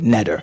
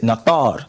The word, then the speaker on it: neter: So as I said earlier, I said we as Nuwaupians would not pronounce the word neter. We would pronounce it nathar. And we would pronounce it nathar based on our translation.